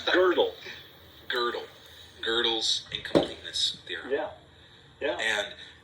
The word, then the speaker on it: Gödel: and they don't even teach you how to pronounce it. Yeah, exactly. It's horrible. It's Gödel.